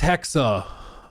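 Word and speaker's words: Hexe: Um, I pronounce it hex. Apparently it's Hexa. Hexa is apparently the proper German pronunciation, but whatever.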